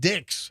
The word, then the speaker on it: Dix: It's D.I.X. I would imagine you pronounce it Dick's.